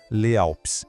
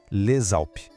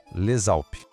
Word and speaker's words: les Alpes: Le termina com um S que a gente não fala e Alpes começa com uma vogal. Nesse caso, a gente junta as duas palavras e o S passa a ter som de Z. Então, a gente não fala Les Alpes, e sim Les Alpes. Escuta a ligação, Les Alpes.